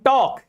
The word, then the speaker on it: talk: In talk, L is before K.